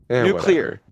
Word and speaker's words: nuclear: Trevor, say new. Then say clear nuclear. Nuclear. It's not nuclear. What are you, Homer Simpson? I mean, technically both are now considered uh approved pronunciations in the uh OED, but yeah.